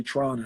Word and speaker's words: Toronto: in America we say Toronto right or Toronto they say Tron Tron but Toronto I noticed that when I'm going to Canada they say Tron oh and I'd be